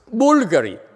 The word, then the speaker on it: Bulgari: do you pronounce i it should be pronounced as bulgari huh see some people what